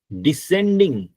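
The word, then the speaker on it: descending: और ऊपर से नीचे वो डिसेंडिंग एस वी है इसमें एस साइलेंट है।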